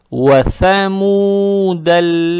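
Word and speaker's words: ثمود: «Ва-самуда ладзина джабу сахра биль-вади». Аят начинается на букву «вау» с фатхой, «ва-ва». Далее стоит буква «сам». Она межзубная, ее надо правильно произносить.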